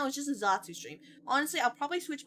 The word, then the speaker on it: zatsu: You say Zatsu, 2 syllables, right? Versus just chatting, which is 3 syllables.